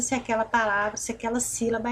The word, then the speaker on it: sílaba: ser voluntário ou não, nós falamos si. Ó, deixa eu sublinhar aqui. O si nós falamos mais forte. Ele já é acentuado, né? Tônica. Independente do acento, se ele é circunflexo ou se ele é acento agudo, a sílaba mais forte é aquela acentuada. Então, sílaba. Ó, nós ficamos mais tempo falando sílaba.